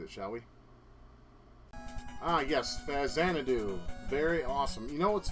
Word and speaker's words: Xanadu: shall we ah yes Xanadu very awesome you know what's funny I used to pronounce this game facts and faxonado you know because I